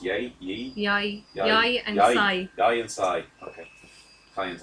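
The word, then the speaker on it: Yae: How's that pronounced? Yai? Yi? Yai.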